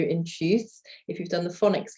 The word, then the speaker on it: tschüss: Yeah, it's tschüss with an U with an umlaut.